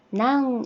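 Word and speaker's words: 何: 해볼게요 이것은 무엇입니까 라고 이 무엇 이라는 한자는 낭 이라고 발음을 하면 되는데요 이것은 무엇입니까 라고 하면은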